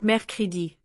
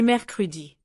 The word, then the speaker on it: mercredi: Lundi, mardi, mercredi, jeudi, vendredi, samedi, dimanche. Listen to mercredi. It's not mercredi, but mercredi. This is why listening is so important, because reading alone mislead you.